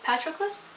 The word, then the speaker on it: Patroclus: us follow it through Patrol closes eyes yes Patroclus but I can't pronounce it and you think I would know